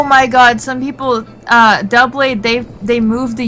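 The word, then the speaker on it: Doublade: They they put they say do blade and duo blade and I'm like oh you um it's d blade like double double blade.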